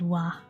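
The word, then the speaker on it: は: it is not spelled wah. If you're using it as a particle it's not spelled wa it's spelled ha but you pronounce it as a wa but it's spelled ha.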